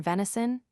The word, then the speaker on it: venison: For example, the author gives a /z/ sound to the S in venison, p. 52. This is surely not American.